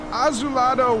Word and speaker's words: azulado: Divisionario Azulador? Azulador? Azulado. Azulado. Yeah, it's from blue. It was like saying blue, but Azulado 250, like 250.